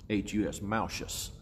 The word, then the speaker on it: Malchus: And the servant's name, we really need to understand this, was Malchus, M-A-L-C-H-U-S, Malchus, or Malchus, different pronunciations, I call it Malchus.